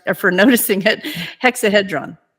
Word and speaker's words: hexahedron: or shapes I mean I'm sorry hexad Dron hexon okay want to make sure I heard I'm sorry I mispronounced it thank you for correct for noticing it hexahedron hexahedron okay yes yes thank you for saying that